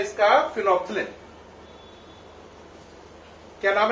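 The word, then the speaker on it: phenolphthalein: इसमें एल और एच जो है वो साइलेंट है। बात समझ में आ रही है कि नहीं? तो नाम है इसका फिनोप्थिलिन।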